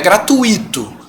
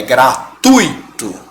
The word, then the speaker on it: gratuito: é gratuito. Vamos separar. Como é que fica? Gratuito. Certo? Você não separa esse I do U, porque senão a pronúncia fica gratuito. Certo? E a pronúncia não é essa.